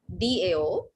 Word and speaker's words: Tao: सो जो ये दाओ सॉन्ग और दाओ हैंड्स ब्लेसिंग है, सब कुछ दाओ से शुरू होता है, TAO, जो प्रोनाउंस होता है DAO।